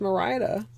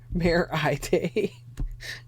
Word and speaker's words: Merida: I didn't know it wasn't pronounced Merida. Brave, right? The redhead. Purple. Yes. Yes. Mare Eye Day.